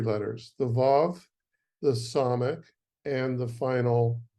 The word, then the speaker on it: Vav: The Vav, pronounced Vav, spelled Vav Vav in Hebrew, has either a vowel sound of O or U, or it's pronounced as a V, a little F-ish kind of V.